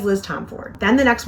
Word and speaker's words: Tomforde: Tomforde, then the next one says Liz Tomforde. And then if you go anywhere online, Google any of the socials, they'll say it's Liz Tomforde. And so I keep saying it that way. Supposedly that's proper, how you're supposed to say her last name.